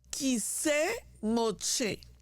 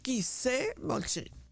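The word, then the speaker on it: כסא משה: Se llama en hebreo Kiseh Moshe. Esa es la forma como se pronuncia la cátedra de Moshe en hebreo. Kiseh Moshe.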